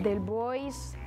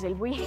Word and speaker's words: Delbouis: A veces me dicen del Buy, del Boys, del, pero en realidad es del Buy.